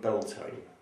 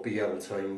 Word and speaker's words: Beltane: be the Witch Festival of Beltane, or Beltane, depends how you want to pronounce it, different spellings, etc.